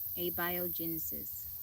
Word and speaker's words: abiogenesis: A-B-I like bio. A-bio. Thank you, because I said it wrong. A-bio. Abiogenesis.